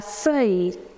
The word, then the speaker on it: feuille: La feuille. Remember, I told you ILL pronunciation is E. We do not pronounce double N.